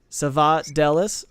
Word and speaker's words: Savadelis: The pronunciation of his last name, all vowels or short with the emphasis on del. Okay, so Savadelis.